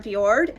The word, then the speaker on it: fjord: go to Tracy arm Fjord and I believe in previous Vlogs I was saying it incorrectly so it's pronounced fjord so when we go